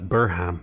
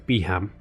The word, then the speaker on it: Beham: I think I accidentally mispronounced that as Burham, but it's Beham.